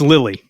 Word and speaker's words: Liily: and we had a fantastic conversation go follow Lily on social media there Lily the band but listen it's l-i-i-l-y the band